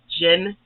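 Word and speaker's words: djinn: didn't know a g needs actual name is Jen d j i n n gin you the D is completely science but it's spelled d-g-i-n-n and those are the names for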